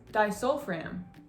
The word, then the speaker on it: disulfiram: the next medication we're gonna go over is pronounced disulfiram also known as an abuse if you guys